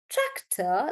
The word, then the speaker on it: tractor: and it's track and the stress is on track tractor like that but then let's take